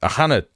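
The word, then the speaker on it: Ó hAnnaidh: uh with a ter she actually pronounced his name pretty Irish like just then. Aana is the right way to say his name.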